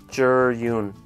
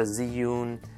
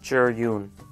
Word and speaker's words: Zhiyun: and just a quick note this is actually pronounced juror Yoon some ink knowledge this means cloud it's not the Zune not the vu it's the juror Yoon just wanted to share that okay so here